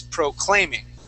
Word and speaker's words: proclaiming: You're pronouncing it at the very beginning, saying proclaiming. The word is proclaiming.